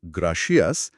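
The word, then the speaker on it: gracias: ধরুন প্রথম শব্দে অর্থাৎ গ্রাসিয়াসে জি এর পরে একটা কনসোনেন্ট আর আছে। যা সাধারণত সবুজ সিগনালের মতোই কাজ করে। তাই এখানে উচ্চারণ হবে শক্ত গ।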